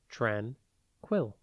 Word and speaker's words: tranquil: tranquil it is pronounced tranquil and it is spelled t r a n q u i l think Tran and then quill like The Feathered pen but with only one L tranquil means peaceful and